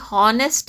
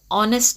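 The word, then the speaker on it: honest: umbrella on ಆನೆಸ್ಟ್ ಮ್ಯಾನ್ ಇಲ್ಲಿ ಹಾನೆಸ್ಟ್ ಅಂತ ಅನ್ಬಾರದು ಯಾಕಂದ್ರೆ ಹೆಚ್ಚು ಸೈಲೆಂಟ್ ಆಗುತ್ತಲ್ಲ ಅದಕ್ಕೆ ನಾವು ಏನಂತೀವಿ ಆನೆಸ್ಟ್ ಅಂತೀವಿ ಸೋ ಪದವನ್ನ ಉಚ್ಚಾರ ಮಾಡಬೇಕಾದರೆ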